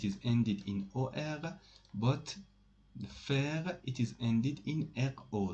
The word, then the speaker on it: faire: the rules of pronunciation, ai in French language is pronounced e. Okay, for example, in this word faire, you don't say faire or for or something like that. Faire, it is pronounced like that.